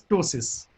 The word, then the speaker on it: ptosis: The drooping of the eyelid is known as ptosis. P is silent, okay, which is mentioned later on.